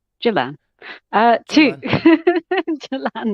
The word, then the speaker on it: Gilan: remember um is that it's Jalan with a soft G it it's just a nice thing that makes me feel warm and fuzzy inside when people use the soft G for my name Jillian uh two I'm not